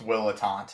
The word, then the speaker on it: Ettante: It's just pronounced Willant, but it's Willant.